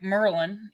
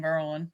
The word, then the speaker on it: Maryland: that was what bre oh all right Merlin you gotta say it right okay because I'm from DC in Merlin okay I love it